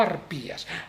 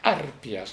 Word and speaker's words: arpias: Por ejemplo, colgar de agudas escarpias y bañarse las tres arpias, no arpías, arpias, ¿no?